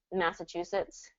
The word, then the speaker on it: Massachusetts: pronunciation for natives but as far as standard pronunciation what you're going to hear on the news when they're talking about Massachusetts it's going to be this massetts Massachusetts Che third syllable stress on this chusetts all right oh darn